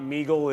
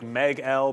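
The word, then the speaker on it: MEGL: And the funny thing about it, I was just showing you guys on, I understand it's not Meagle, it's like Meg L because it's Empire, so really you'd pronounce it Meg L.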